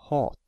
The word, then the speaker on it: hat: The first word hat has only one t after the a, so a is pronounced as the long vowel, hat.